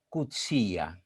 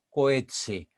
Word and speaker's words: Coetzee: Paul Auster y John Coetzee. Estoy pronunciando como me han dicho que se pronuncia el nombre de este autor al que todos le denominan Coetzee, pero en realidad se pronuncia Coetzee.